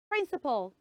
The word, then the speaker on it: principal: word the word is principal can we say that principal pull you see that syllable at the ending yes it's not path it is what pull so say principal principal